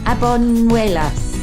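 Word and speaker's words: Albuñuelas: Casa Azul in Abuñuelas.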